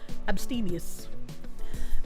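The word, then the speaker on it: abstemious: Maybe maybe it is pronounced abstus as groathy says stress on the second syllable. Ste sounds like absteini us but without the y sound. abstius.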